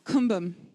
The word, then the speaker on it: Kumbum: But there's an ao. So we get that hint. It becomes kumbum. It should actually be more kumbum, but it was written down by Westerners who didn't actually speak Tibetan at the time. Amdo.